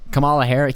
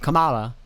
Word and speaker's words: Kamala: But then they come out and they put Kamala Harris.